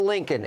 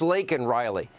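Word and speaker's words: Laken Riley: say her name Joe it's not Lincoln it's lakol Riley nor have we heard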